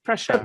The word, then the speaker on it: pressure: রটা উচ্চারণ হবে না, হবে প্রেসার।